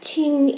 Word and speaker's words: 青: All these words share a common stem, ao, or sei if you prefer its kanji pronunciation. Now, this same kanji is read as qing in Chinese.